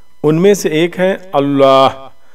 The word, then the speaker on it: اللہ: اللہ اور اللہ، اللہ یہ صحیح تلفظ ہے اور اللہ غلط ہے. کافی لوگ کہتے ہیں اللہ اکبر یا اللہ، یہ غلط ہے. صحیح کیا ہے؟ اللہ. تھوڑا سا موٹا پڑھنا ہے اللہ، موٹا موٹے سمجھ لیں،